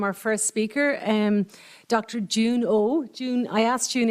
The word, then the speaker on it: Jieun: first speaker um Dr June oh June I asked June earlier how do you pronounce her name and she said June July it's easy so um so there